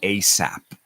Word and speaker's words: ASAP: A-S-A-P or ASAP. Sometimes we say A-S-A-P, sometimes we say ASAP. Both of them are pretty acceptable.